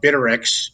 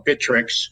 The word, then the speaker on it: Bittrex: happen to chose uh bitterx or bittrex i guess is the right pronunciation of that um from what i